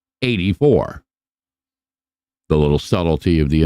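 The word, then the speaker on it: AD4: or YouTube and stuff, it's actually the letter A, the letter D, and 4, but it's pronounced 84.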